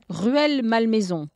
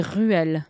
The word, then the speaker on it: Rueil-Malmaison: Rueil-Malmaison. C'est Ruelle? C'est Ruelle. Ah oui. Ruelle. Ruelle. And I've heard people from there say it, so I know really? It's, that's how they say it.